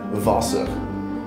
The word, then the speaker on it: Wasser: Okay, next in German, I think they pronounce the W's as like V. So next is going to be Wasser.